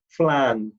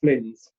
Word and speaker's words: Flynn: It's pronounced Flan, not Flynn's.